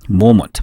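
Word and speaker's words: moment: 모먼트 발음교입니다.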